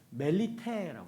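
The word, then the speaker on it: Μελίτη: 여러분, 이 몰타를요, 이 헬라어로 얘기하면 멜리테라고 합니다. 멜리테라고 읽어요.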